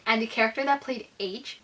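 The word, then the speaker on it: Aech: the character that played H, I thought this person's name was literally spelled with the letter H, but I just learned that it's spelled A-E-C-H, and I'm shook.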